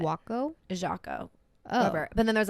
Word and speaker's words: Jaco: so there's a place called Jocko j-a-c-o it's how they pronounced it wacko Jacob but then there's